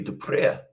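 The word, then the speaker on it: Du Preez: Whereas if it was DU space PREEZ, it would be Dupre.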